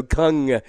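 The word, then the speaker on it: Kang: what is it Gung Gung Gung the K is silent well the a is a u okay as it turns out yeah so Kung and so we know we're solid in the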